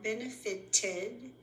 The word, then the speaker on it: benefited: The ones that pronounce ed as a separate syllable are benefited and created.